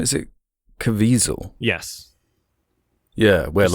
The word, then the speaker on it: Caviezel: Is it Caviezel?